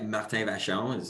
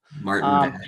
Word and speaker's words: Martyn Vachon: We got Martyn Vachon. Is that how you say it? Is that right? I mean, yeah, Martyn Vachon is in French, but That was I mean, beautiful. Martyn Vachon.